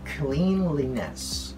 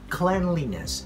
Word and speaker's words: cleanliness: So we don't say cleanliness. We don't read the word clean in here, just because we see this word. So we say cleanliness. Instead of cleanliness, we say cleanliness. Just like breakfast.